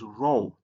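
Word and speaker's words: rho: The next letter is row.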